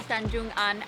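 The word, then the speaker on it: Tanjung Aan: Welcome to Tanjun Aan, our favorite beach in the entire world.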